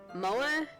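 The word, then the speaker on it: moe: feminine poses it's exceedingly MOA I don't know if I'm pronouncing that right MOA Mo give me a moment um mo mo okay so it is Mo don't just stand there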